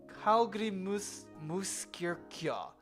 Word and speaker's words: Hallgrímskirkja: The stress is on the second syllable, and the J is pronounced as a Y sound. Hallgrímskirkja.